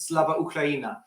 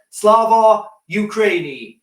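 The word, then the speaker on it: Слава Україні: Starmer added, if you see Keir Starmer do his speech when he says this, so this should be pronounced Slava Ukraina.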